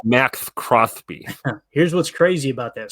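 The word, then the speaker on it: Maxx Crosby: Here's It's pronounced Max Crosby.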